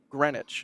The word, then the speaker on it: Greenwich: believe you just leave syllables out, so Greenwich.